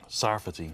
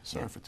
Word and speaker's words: Sarfati: And am I pronouncing your name properly? Is it Sarfati? Sarfati. Sarfati, Sarfati.